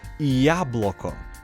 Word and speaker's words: яблоко: This letter is actually pronounced as E, and the letter Ya is a completely different letter. Now, with this letter being in front of this word, you can say яблоко.